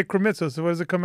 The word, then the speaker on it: Krimitsos: Krimitsos. Not even going to try it. Podfest. How would you say my last name? I just go. No, but if you say Krimitsos, so what does it come out with your...